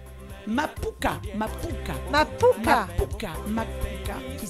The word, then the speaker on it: Mapouka: On va parler du Makupa. Makupa. Voilà. Mapuka. Mapuka. Mapuka. Mapuka. Mapuka. Mapouka, qui s'écrit M-A-P-O-U-K-A.